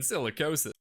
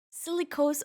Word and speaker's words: silicosis: And by tickle, I mean silicosis. Silicose, oh, I even said it wrong. Silicosis.